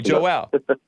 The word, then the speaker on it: Joelle: orlando florida unless it's joelle but joel in orlando florida am i pronouncing your name correct joel you actually got the latter right my name is pronounced joel but okay joelle nice good to hear